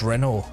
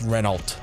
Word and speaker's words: Renault: But if you were to read that it says Reynold because like we when when reading English would pronounce the LT at the end. So instead of saying Renault, we say Reynold because like the alt is at the end, but technically in French you wouldn't pronounce those last few words or few characters. Hence is Renault, not Reynold.